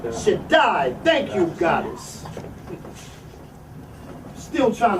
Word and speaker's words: Shaddai: El Shahadi. I think I'm pronouncing that word right. Shaddai.